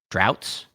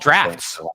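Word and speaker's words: draughts: as it's just called drafts I I was pronouncing it wrong drafts now this says droughts drats there's no F in here how to pronounce Dr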